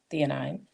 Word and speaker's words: theanine: free um with E the theanine that's how you say it theanine and the B vitamins